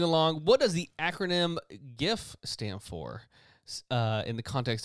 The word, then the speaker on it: GIF: why it's a hard G and not a soft G. It's not GIF.